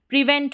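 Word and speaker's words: prevent: PRE को यहाँ पर प्री पढ़ा जा रहा है और VENT को वेंट पढ़ा जाता है। प्रिवेंट हो गया, PRE को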